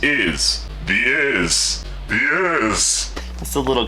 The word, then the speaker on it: Isz: To tell you, it's pronounced Isz.